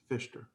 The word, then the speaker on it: Fichter: You pronounce that C like an S? Fichter. Fisher.